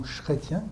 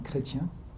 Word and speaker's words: Chrétien: autor, Chrétien de Troyes, não Chrétien, como a tradução brasileira, mas em francês se chama Chrétien, o H não é pronunciado.